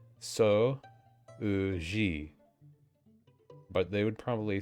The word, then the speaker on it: 掃除: I feel like whenever there's a U and an O next to each other, they just want you to pronounce the O longer. And they just do that instead of writing a little, a mini su or whatever.